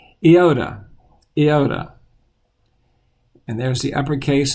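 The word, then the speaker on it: iota: theta and next is the I sound but in Greek is Yoda Yoda and there's the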